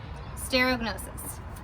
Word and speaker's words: stereognosis: So, stereognosis. This is how we spell it.